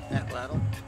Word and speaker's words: atlatl: And how do you pronounce ATL? Atlatl.